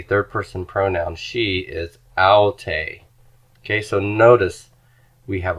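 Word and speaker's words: αὐτή: For the pronoun she, smooth breathing, and the accent is not on the first syllable, but on the second one.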